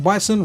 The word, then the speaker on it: Bison: Bison, you know, Mike Bison, rhymes with Tyson, you're called Boxer.